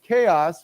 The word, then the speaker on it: chaos: this word before the the CH is pronounced with a k sound C okay not not